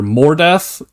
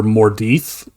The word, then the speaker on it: Mordeth: So it's either Mordeth or Mordeith. I prefer Mordeith. More death is a little on the nose.